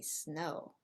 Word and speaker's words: snow: Remember, in English, we do not use the letter E as a help to pronounce the letter S.